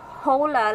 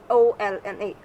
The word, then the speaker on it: hola: hola it is not hola like it it's spelt the h is silent here and we'll say just o l a ola selam selam in